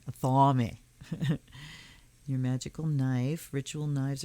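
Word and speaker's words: athame: that always cleanse and purify okay a family pronounced a thaw me a thaw me your magical knife ritual knives are blah blah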